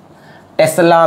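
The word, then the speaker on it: tesla: इसी को हम लोग टेस्ला भी बोलते हैं, तस्ला नहीं, तस्ला, टेस्ला भी बोलते हैं, ठीक है।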